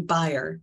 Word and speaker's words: Baier: Nancy Baier, am I pronouncing that right? It's actually Baier, like you Baier. Buy a house.